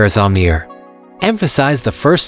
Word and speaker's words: Amir: a simple guide pronounce Amir as Amir emphasize the first syllable and follow it with a soft and sound and then ear similar to saying ear practice a few times